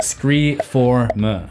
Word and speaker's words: Scre4m: Yes, that is the correct pronunciation based on the spelling, Scree form.